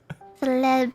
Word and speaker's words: celeb: Celeb. I think Celeb. Yes, celeb. that's how you pronounce it. Yes, that's the best. It just sounds close to sleep.